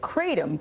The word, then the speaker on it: Kratom: The FDA warns that Kratom can be addictive is how you say that word, and life-threatening too.